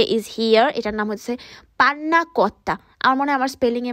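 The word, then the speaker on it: panna cotta: এটার নাম হচ্ছে পান্নাকোত্তা। আমার মনে হয় আমার স্পেলিংয়ে মানে আমার সরি আমার প্রোনাউন্সিয়েশন একটু ভুল হতে পারে, সো আমি আমার ইটালিয়ান ফ্রেন্ডের মুখ থেকেই তোমাদেরকে শোনাই। পান্নাকোত্তা কোন ফ্রাগোরে, বাট ভাই এটা দেখতে যতটা না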